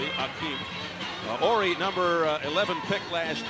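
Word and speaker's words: Hakeem: It's spelled now with an H, Akeem, but it's pronounced as it used to be, Akeem.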